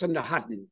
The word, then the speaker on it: Sandakan: And you'll notice in Bonggi, this last A is not nasalized, so it gets preploded. It's pronounced Sandahatan, okay?